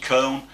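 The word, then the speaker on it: Köln: seventh defense today when they're home to fc cone or cologne whichever way you want to pronounce it or say it and the lineal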